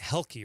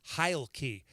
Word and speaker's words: Heilke: And I said, everyone's pronouncing it Helke, right? I'm like, it's not Helke, guys. I found out it's Heilke. And Mike, the Hludge, Hawaiian Lumberjack, goes, oh, you mean like Hilke? and you, Kelsey, goes, absolutely not like Hilke. It's actually Heilke.